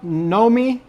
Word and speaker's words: Nomi: But it it seems like it should be something. It's like Naomi that didn't quite make it or something.